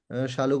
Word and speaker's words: शालू: Sallu Gupta madam होंगी। शालू Gupta madam होंगी। Spelling में शालू भी लिखती है तो थोड़ा सा इस पे लेरर हो जाता है।